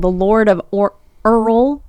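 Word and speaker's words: Eorl: So it's based on a short story called The Lord of Earl. It's spelled E-O-R-L, but it's pronounced Earl.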